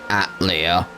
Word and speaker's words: Atelier: it's it's it's that that's how they want it pronounced atlea it's not a mistake it's a choice what that's